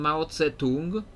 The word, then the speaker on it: Mao Zedong: If I started praising Mao Zedong. I don't know if I'm pronouncing it exactly correctly. Like in Polish, we call him Mao Tse-tung. That's how we say it in Polish, Mao Tse-tung.